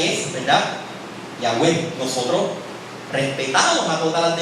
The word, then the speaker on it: Yahweh: eruditos, ¿verdad?, hebraístas, están de acuerdo con la pronunciación original. Era y es, ¿verdad?, Yahweh.